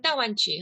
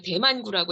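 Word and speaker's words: 大湾区: 중국은 따완취, 한국에서는 이제 그 한자 발음 그대로 대만구라고 해서 어떤 분들이 대만, 타이완과 헷갈리시는데 그게 아니라 그 따완취를 비롯해서 중국과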